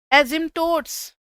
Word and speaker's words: asymptotes: एजिम्टोट्स, एजिम्टोट्स बोलते हैं बच्चे उसको, मैं कहीं नहीं लिखा spelling. X एंड Y axis are एजिम्टोट्स, ये स्पेलिंग होता है ASYMPTOTES।